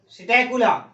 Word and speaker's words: Psittacula: Next आ गया parrot, सिटैकुला। सिटैकुला में spelling ध्यान दीजिएगा, यहाँ P साइलेंट है, PSITTACULA, सिटैकुला।